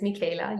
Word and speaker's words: Michaela: thank you so much uh my name is Mika you did pronounce it right um I am a shaman